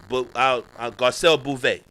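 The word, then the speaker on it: Garcelle Beauvais: more infinity to us gabriel garcelle bouvier yeah that's how you say it garcelle movie i should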